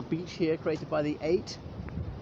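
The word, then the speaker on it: ait: here created by the eight and eight spelt a-i-t or e-y-o-t um is an island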